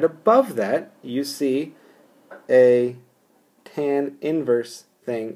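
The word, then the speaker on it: tan⁻¹: x = tan inverse this is not tan to the1 this is pronounced this is pronounced tan inverse or inverse tan okay it could be pronounced inverse tan as well but tan inverse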